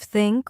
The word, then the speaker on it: think: For example, the tiot sound in words like think and this. Yes, many learners say tink instead of think or dis instead of this, but here's a simple